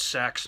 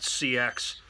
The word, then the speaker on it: seax: First of all, it's pronounced Seax, not CX, so let's get that out of the way.